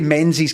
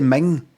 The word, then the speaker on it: Menzies: Like Menzies, it's like Ming. You don't say Menzies Campbell, you say Ming.